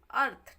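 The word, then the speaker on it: earth: इसमें ए से शुरू करते हैं इसका पढ़ाना अर्थ ठीक है ए आर टी एच अर्थ E silent रहेगा ई का उच्चारण हम नहीं करेंगे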